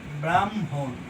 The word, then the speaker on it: ব্রাহ্মণ: ম হর নিচে অনুসার তারপরে ম উচ্চারণ হবে ব্রাহ্মণ উচ্চারণ কি হবে ব্রাহ্মণ তারপর হচ্ছে অনহো দেখছো